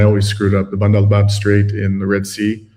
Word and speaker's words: Bab el Mandeb: Just again, the correct pronunciation is Bab el Mandeb.